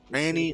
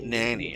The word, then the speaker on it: Nani: It's called, Nanny Nanny, and it's spelled Nani.